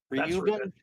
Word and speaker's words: Reuben: R E U B N. Reuben.